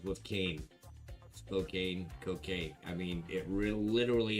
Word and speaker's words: Spokane: Does Spokane rhyme with can or cocaine? Spokane or Spokane? So like Spokane of tuna, or Spokane is good, man?